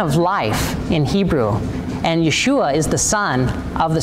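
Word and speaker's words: ישוע: name in Hebrew or Yeshua it's a kind of a shortened version of yahushua so they actually have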